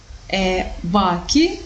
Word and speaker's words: bachi: So despite the fact that the letter H is not pronounced, but it changes the meanings of the words.